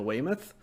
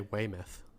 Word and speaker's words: Weymouth: talk about Talking Heads I've heard it both ways so at some point I will need to fully get accounting for that what would you go with Josh as yours I would say Weymouth Weymouth okay so a different variation of it so but but she